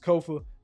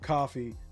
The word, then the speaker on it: Kofa: I have been your humble host, Kofa, K-O-F-A, not coffee, not, not Kofi, or any variation thereof. Kofa rhymes with sofa.